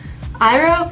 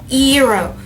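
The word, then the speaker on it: Iroh: then made the movie none of the names are pronounced correctly at all eng is on saka is soka iro is eero okay and it makes no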